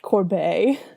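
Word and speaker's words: Corbeil: want to throw in it's pronounced Corb sorry continue so basically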